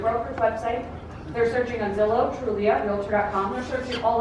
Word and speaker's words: Zillow: It's rhymes with pillow, starts with a Z.